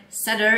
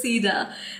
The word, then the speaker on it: cedar: Cedar I realized that why Google was not picking up on my Setter is because it's pronounced as Cedar now I'm wondering if